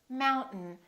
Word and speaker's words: mountain: This AI, these 2 letters are not pronounced. We don't say mountain. We say mountain, mountain. This syllable is stressed, therefore the second syllable is reduced and the vowel disappears.